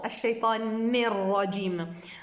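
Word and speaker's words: الشيطان الرجيم: Alors que c'est un noun avec une kasra, on le prononce ni, et pas ne.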